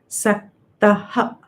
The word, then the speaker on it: सक्तः: Take this as a visarga here. So, saktaha.